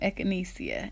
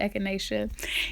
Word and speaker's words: echinacea: to pronounce that damn tea all the time eckinesia eckinesia echinesia echinacea you're gonna hear pronounce a thousand different ways look up another